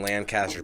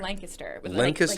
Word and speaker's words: Lancaster: it is lancaster lancaster lancaster kiss like lancaster yeah and you people know you're not from lancaster if you say lancaster because there's a lancaster california but we're lancaster pennsylvania lancaster okay i've been saying